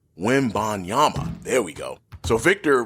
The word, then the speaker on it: Wembanyama: here soon, so I better get used to pronouncing that name, Wembanyama.